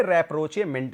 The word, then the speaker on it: rapprochement: देखिए भी spelling simple सा है, RAPPROCHE, रैप्रोचे याद रखिए तभी याद होगा ये, रैप्रोचेमेंट। कैसे याद रखेंगे? रैप्रोचेमेंट, RAPP देखिए है रैप्रोचेमेंट, रैप्रोचेमेंट याद रखिए, याद हो जाएगा। रैप्रोचमेंट की जगह पे रैप्रोचेमेंट याद रखिए।